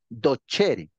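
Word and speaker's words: docere: no pero se pronuncia se escribe dosere pero se pronuncia do chery es como la palabra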